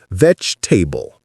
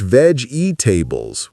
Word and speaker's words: vegetable: You can also think of it as vegetable almost. The g and the e blend into a ch sound. Sometimes vegetable or vegetable both work. The key is dropping that middle e syllable.